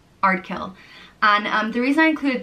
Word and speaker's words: Ardkill: The next name is Ardkill, and it means from the high church, and it's pronounced just as it's spelt, Ardkill, Ardkill.